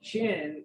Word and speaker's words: Qin: It's spelled Qin, but it's pronounced chin, and it's it's sort of the root word of the name China.